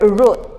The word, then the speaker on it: root: that what the word root in some parts the pronunciation rhymes with hoot in others it rhymes with out and in some others